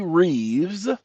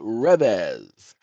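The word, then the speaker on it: Reves: I say Reeves, like Keano Reeves or Christopher Reeves, because they have two E, but the AI pronounced it as the Rez.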